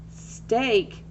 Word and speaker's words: steak: we read them differently beach makes a long e sound steak makes a long a sound so we have to